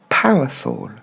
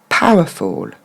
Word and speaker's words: powerful: Alors on va essayer de plutôt le prononcer comme tomber en anglais, que vous connaissez.